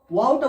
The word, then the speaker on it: واو: ওয়াও, ওয়াওটা উচ্চারণ হয় প্রথম মুখটি গোল থাকবে, তারপরে ওই অ উচ্চারণ হওয়ার পরে আবার ওই একই জায়গায় গোলে চলে আসবে।